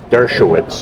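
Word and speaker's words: Dershowitz: Well, in case of is it pronounced Dovich, Alan Dovich, right? How do you pronounce his last name? Uh, Durovich. Durovish.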